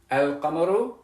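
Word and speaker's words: القمر: Because you'll know that sukoon means that I do pronounce the lam, al-qamaru, and you'll know that that shadda means that I don't pronounce the lam, ash-shamsu.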